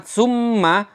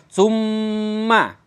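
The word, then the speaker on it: ثُمَّ: Cara membacanya yang pertama harus ditekan. Karena summa mim tasydid itu adalah berasal dari mim yang dibaca sukun pertama, kedua mimnya berharokat fathah. Maka mim sukun harus ditekan dulu. Summa. Kemudian cara yang kedua, bacanya harus didengungkan yang lama.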